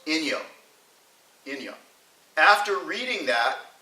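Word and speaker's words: 陰陽: understand yin and yang only in the Japanese it's pronounced in yo in young after reading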